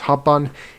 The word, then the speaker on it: habban: Similarly, it is not haban, it is habban.